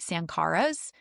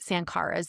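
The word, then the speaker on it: sankhara: vaposa retreat sank caras I know some of you will say that's not how they say it but that is how goa who led the 10day vaposa retreat well he's dead but his videos that's how they say it sank caras and it and and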